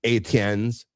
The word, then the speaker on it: Etienne: And I never heard from any of the Etiennes that we were pronouncing their names wrong. That's how you pronounce it, Etienne.